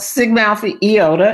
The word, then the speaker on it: Sigma Alpha Iota: It's called Sigma Alpha Iota is how we pronounce it.